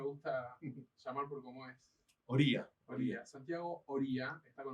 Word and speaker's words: Oría: ¿Oria o Oria? ¿Cómo se pronuncia? Es Oría, Oria, pero Santiago Oria.